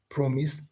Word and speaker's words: promise: For example, in some cases, and this is commonly tested in KCSE, some verbs have their stress falling on the first syllable, e.g., manage, register, exercise, promise, answer.